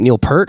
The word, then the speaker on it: Neil Peart: know is it okay is it Neil Peart or appeared I don't work that part but okay I've said pert but I've heard people say peers let's look up the